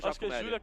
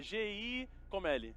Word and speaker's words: Giacomelli: Tipo, é G-I Comelli, não é isso? É G-I-A Comelli. G-I-A Comelli, né?